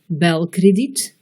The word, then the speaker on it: belkrediet: E muet, begrijpen, E bref, belkrediet, E long, beteren.